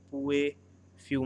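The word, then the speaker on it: Pouilly: called you may have two l word are silent so it will be pronounced as pue put fumes few men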